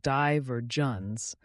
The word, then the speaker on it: divergence: To recap, divergence means a split or a developing difference, pronounced die-ver-gence, and it's especially useful for thoughtful discussions.